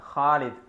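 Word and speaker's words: خالد: ഇപ്പോൾ ഖാലിദ് എന്നായിരിക്കും ഇംഗ്ലീഷിൽ എഴുതുക, പക്ഷെ അത് അറബിയിൽ ശരിക്കും അതിൻ്റെ ലെറ്റർ ഖാലിദ് എന്നാണ്, ഖാലിദ്. അപ്പോൾ ആ ഖാലിദിന് വേണ്ടിയിട്ടാണ് 5 ഉപയോഗിക്കുന്നത്.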